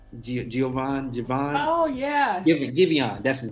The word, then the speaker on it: Giveon: Javon. Oh yeah. Giveon, that's his name. Giveon, that's how you say it.